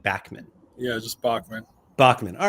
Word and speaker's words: Bachman: Do you pronounce it Bachman or like Bachman? Yeah, just Bachman.